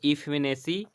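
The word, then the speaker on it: effeminacy: एसी, और ये ई, तो इसको ऐसे बना सकते हैं, ई फीमेल सी, फीमेल सी, इफेमे, तो इफेमिनेसी को इस तरह से आप प्रोनाउंसिएट कर सकते हैं, ई फीमेल सी, मतलब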